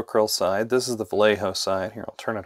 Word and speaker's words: Vallejo: It will be immediately clear to you that the Vallejo, or Vallejo, if you are pronouncing your Spanish correctly, comes in a much bigger jug, 200 milliliters compared to 120 for the Pro Acryl.